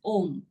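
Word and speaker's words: ॐ: In Sanskrit grammar, A and U coalesce to form O. Thus, A, U, M together is pronounced as Om.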